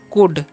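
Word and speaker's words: could: है ठीक है सैम इसे पढ़ते हैं हम लोग कुड ठीक है यहां पर जो है एल साइलेंट है तो इसका भी आपको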